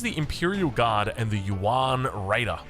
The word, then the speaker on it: Yuan: So this is the Imperial Guard and the Yuan Raider. I should probably pronounce that the Yuan. You really want to be quick with that.